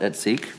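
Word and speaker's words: et seq.: It's adding new sections 110.300 et seek, and yes, I looked up to how to pronounce that, et seek.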